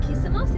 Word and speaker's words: Kissamos: alternatively you can also get a ferry from kissamos is that how you pronounce it yeah so there's two options there